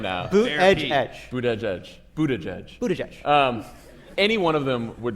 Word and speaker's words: Buttigieg: If Perez or Ellison or Buttigieg, see, I say his, I can pronounce his last name now. Buttigieg.